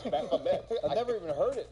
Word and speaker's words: Baphomet: I always pronounce it Baphomet. It's Baphomet.